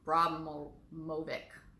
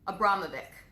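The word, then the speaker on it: Abramović: her name a bravura or something but broblem Bromell mobic braun mobic Abramovich's there we go it's my vaccine injury multiple syllables a little bit hard for me so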